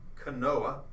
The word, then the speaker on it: Knoas: youtube and youtube Thank You Morgan and it's Kanoa is how you would spell that KN o a s and we here